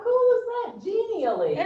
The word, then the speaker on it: Genially: Spell it. Genially.